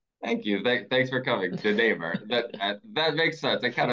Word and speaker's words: DeNamur: I'll just tell you my last name is pronounced DeNamur. But yeah, joining in from Seattle and just excited to have a chance to share a couple things with your audience. Thank you. Thanks for coming, DeNamur.